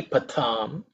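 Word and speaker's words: पथां: In terms of pronunciation, tha, patham is the tha of the second letter in the tha varga, so it has to be aspirated.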